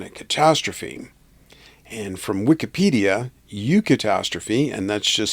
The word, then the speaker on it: eucatastrophe: And from Wikipedia, eucatastrophe, and that's just spelled like catastrophe but with an EU in front of it, is a term coined by J.R.R.